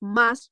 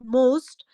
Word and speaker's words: must: The first one is like must, not most. Most has another meaning and must has another meaning.